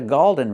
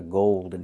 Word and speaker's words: golden: Like when you see words cold, fold, old. It's the long O plus a dark L. That's what we need here for gold and golden. This is a golden retriever.